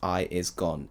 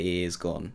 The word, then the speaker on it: iisgone: you now it's pronounced I is gone it's spelled i i s g o n e so most people say e is gone but it's pronounced I is gone I know that's very